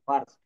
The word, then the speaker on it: first: দেখেন এখানে ফার্স্ট, FIRST, একটু ভালো করে খেয়াল করবেন।